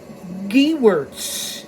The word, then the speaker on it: Gewirtz: with my courage H my last name is pronounced Garts g wordss whatever I